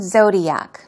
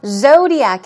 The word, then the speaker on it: zodiac: conversation now I've chosen zodiac because I want you to practice pronouncing it zodiac as you see the first syllable is stressed Zodiac Zodiac we're talking